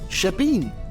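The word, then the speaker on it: shebeen: and I figured out that that's how the Irish pronounce it shabeen and I realized that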